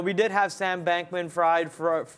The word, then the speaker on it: Fried: more you know we did have Sam bankman fried freed uh fried in my bed freed it's spelled f-r-i-e-d yeah it is okay uh Sam